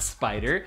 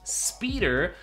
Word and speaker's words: SPDR: and it's spelled SPDR it's not spider it's actually pronounced speeder and it's a speed